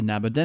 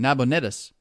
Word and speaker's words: Nabonidus: by a general resolution transferred the government to naboda notice huh I said it wrong nabonidus one of the Babylonians who belong to the